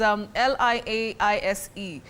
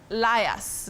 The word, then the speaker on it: liaise: So do you say lias? Let me lias with Alana, and then we can see how the plans are. Is that the right way to use that word in the sentence in terms of pronunciation? Lias? No. You say liaise, to liaise with somebody, not to liars that we commonly use locally.